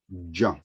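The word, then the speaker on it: ج: the father becomes john john so the correct pronunciation of the sound of this letter is juan so there is like the little slides the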